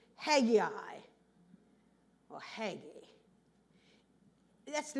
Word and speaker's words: Hegai: But the pronunciation of the word is Hegai.